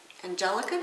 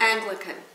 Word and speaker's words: Anglican: is Tony Palmer who is actually an an angelican is that how you say it priest angan Anglican Anglican priest so he's the one who's trying